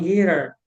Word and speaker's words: guitar: But on guitar, how can I say guitar? A Guitar, pronúncia guitar, guitar, the second syllable is stressed.